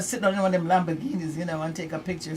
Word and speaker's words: Lamborghini: They said I wasn't saying it right, but it's Lamborghini dealership, that's 7865 Roswell Road in Atlanta.